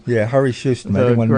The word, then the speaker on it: Harri Sjöström: Do you want to tell me, or you want me to read the mispronunciation? Oh, sure. That's Harri Sjöström. Yeah, Harri Sjöström.